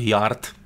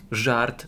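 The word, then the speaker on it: Jart: Jak ktoś nie wie, to pisze się Yard. Żart. Żart. Żart. Ktoś nawet kiedyś z naszych znajomych powiedział, że kupił deskę Żarta. Zastanawiałem się, o co chodzi. Nie, bo J w hiszpańskim jest H. Tak.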